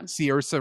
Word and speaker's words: Saoirse: Of just I love I can't even pronounce her name correct. Is it so Ronan? Saoirse Ronan, yeah. Saoirse Ronan.